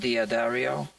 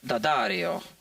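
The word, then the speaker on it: D'Addario: apostrophe um and the Dario strings some people pronounce it Diario it's wrong right it's D Daario so uh it should be pronounced dangelico but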